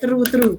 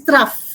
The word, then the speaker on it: trough: Okay, kebanyakan baca true. Okay, this pronounce is trough. Okay, this is how you pronounce it, trough.